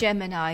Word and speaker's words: Gemini: It's Gemini. The Googlers call it Gemini and it comes from the United States of America.